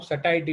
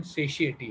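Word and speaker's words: satiety: सेशिएटी इज, और Indian English में जैसी जिसको आप सटाइटी बोलते हैं, सटाइटी एक्चुअली इसका प्रोनाउंसिएशन सेशिएटी है।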